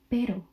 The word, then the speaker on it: pero: So when you would have the pero means but you know like oh but this like pero cuz it's one r but then if you change it where do you see the double r it would be perero.